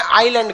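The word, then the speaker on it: island: द्वीप को इंग्लिश में आइलैंड कहते हैं। क्या कहते हैं? आइलैंड। आइलैंड में ना एस साइलेंट रहता है।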